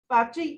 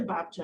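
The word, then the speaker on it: Babcia: Babchi, well, it's really Babcha, I think, but we always said it wrong.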